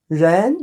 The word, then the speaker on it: 人: 人, this is second tone.